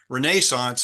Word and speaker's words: Renaissance: And as this process is occurring, beginning, you might say, with the Renaissance, or Renaissance, I think is the European pronunciation.